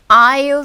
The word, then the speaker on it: aisle: 여러분 윈도우 하면 보통 왜 창가 쪽 좌석 통로 측 좌석 할 때 윈도우 시트 통로 aisle seat S는 발음이 되지 않습니다. 묵음이에요.